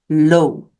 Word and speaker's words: l'eau: remember EAU in French makes an O sound. So water is pronounced l'eau. De l'eau is some water.